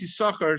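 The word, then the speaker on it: יששכר: the the second sin second letter sin is silent silent sin why is that so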